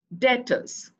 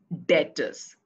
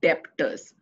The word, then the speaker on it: debtors: Sundry debtors. You pronounce it as debtors, okay, not debtors. B is silent, so it is pronounced as debtors.